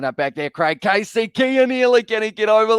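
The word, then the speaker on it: Cian Healy: does all did he score yes he did kia nearly keen early that is the name keon with a k he has scored it but his name spelled with a c but it's pronounced gay kia nearly another prop has been able to score the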